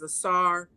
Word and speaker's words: Asar: use those terms, but the Medu Neter clearly has it written to pronounce it as Asar, Aset, and Haru.